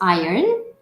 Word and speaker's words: iron: pronouncing this word correctly is it pronounced iron and they'll say oh yes you are pronouncing it right or if you say is this pronounce IR on and they'll say no that is not the correct pronunciation this is how you